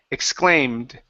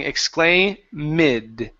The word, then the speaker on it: exclaimed: Exclaimed. Exclaimed. Okay. Almost you're pronouncing this e. You're saying exclaimid. Okay. Take out that e sound. The word is exclaimed.